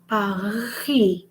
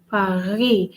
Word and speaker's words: Paris: And of course, the S is silent. Pourquoi? Because Pascal, the French, when the last letter is a consonant, they don't pronounce it, right? They don't pronounce it. It's silent. But they will stress on the R.